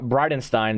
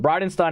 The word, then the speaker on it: Bridenstine: it NASA director Jim bridenstine that's how you pronounce it Bride of Frankenstein is how I remember it but Bryden Stein appeared before the Senate